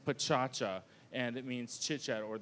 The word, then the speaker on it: Pecha Kucha: But actually, Pecha Kucha is from Tokyo, and it's pronounced pachacha, and it means chit-chat, or the actual sound of talking.